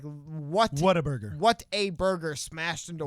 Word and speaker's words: Whataburger: So that is, so he was pronouncing it the Texan way, Waterburger. Weird, because it is spelled basically like Whataburger.